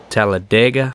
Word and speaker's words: Talladega: most people are familiar with Talladega, although they'll tell you there it's pronounced Talladega.